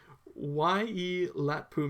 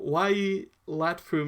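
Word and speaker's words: Waiilatpu: And they founded what is known as, let's say it slowly, because this is something I still have a problem saying, Wai-e-Latpu Mission.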